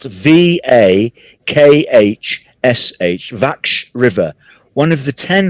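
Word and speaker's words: Vakhsh: is built on the vache river the river is spelt v-a-k-h-s-h vaksh river one of the 10 highest dams in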